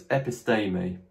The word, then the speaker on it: episteme: Epistermer means knowledge, and it will be transliterated as episteme. This long E here following the Latin pronunciation should be pronounced A. So it's episteme.